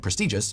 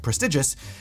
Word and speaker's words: prestigious: that word, I said prestigious, and that time I said prestigious, it's because my brain literally can't choose what American or British pronunciation to choose anytime I make a video these days.